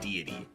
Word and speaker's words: deity: And I'm like, oh, it's just God, and it's pronounced deity.